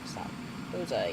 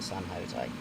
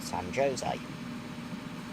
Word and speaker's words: San Jose: would actually call it San Jose, which is completely wrong cuz it's a Spanish name rather than English. So J's are pronounced as a Y s or in that case a H. San Jose down to 20 because